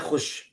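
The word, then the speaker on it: خوش: आपको नजर नहीं आएगा जिसकी बेहतरीन मिसाल है खुश खुश में वाव को इतना कम टाइम मिला है प्रोनाउंस करने के लिए कि ऐसा लगता है वाव है नहीं सिर्फ ख पे पेश लगा हुआ है बस जबकि वाऊ इस देयर उसी तरह कितने ही ऐसे अल्फाज है जिसमें वाव लिखते हैं मगर बोलते नहीं है।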